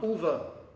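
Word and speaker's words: Ulver: Now, um, ulva is the Norwegian word for wolves, except I've heard Norwegians, including, you know, people from the band, and Roger pronounce it as Ulva.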